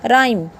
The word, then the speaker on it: rhyme: RHYME, ये क्या बन गया, राइम। राइम नहीं बोलेंगे इसको, ये राइम बन गया।